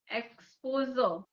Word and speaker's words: exposure: when you're pronouncing it, remember to break up into two parts. Expo mm-hmm. is one word, syllable Yeah, rather, not word. yeah, Expo, sure. mm-hmm. You say it that way, you'll also emphasize on the sure.